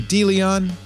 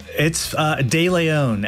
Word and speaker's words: De Leon: I'm sorry, De Leon. I always say it wrong. De Leon, actually.